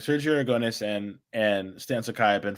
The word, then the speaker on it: Sergio Aragonés: So I can never pronounce his name, so say it. Sergio Aragonés.